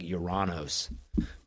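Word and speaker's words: Ouranos: they had no idea I think the actual pronunciation isn't even Uranus I think it's act like uranos but he's one of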